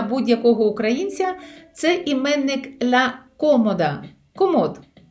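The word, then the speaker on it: cómoda: Це іменник ла комода. Комод. Просто змінюється наголос в іспанській мові в порівнянні з українською.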